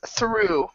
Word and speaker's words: through: Now keep in mind there are some words that they are, but for most of these words, the GH is silent.